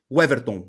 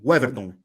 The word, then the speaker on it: Weverton: Waverton, isn't it? How do you say his name? Yeah, it's Weverton. Weverton.